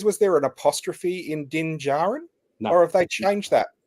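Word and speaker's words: Din Djarin: bit more specific now din Jaron so there's no D in the pronunciation and and the other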